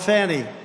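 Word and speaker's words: Fani: destroyed because of funny f a n i fny you have to pronounce it funny it's called Fanny you have to pronounce fny I don't know how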